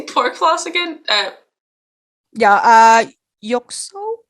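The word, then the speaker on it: 肉鬆: Yoksong? Yoksong.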